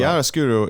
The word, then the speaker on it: chiaroscuro: Like chiaroscuro or something when the background is... yes, totally chiaroscuro is the...